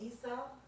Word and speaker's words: Isa: How do you say it? Isa.